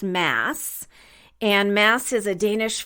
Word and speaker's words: Mads: and like I said the D is silent so his name is pronounced mass and mass is a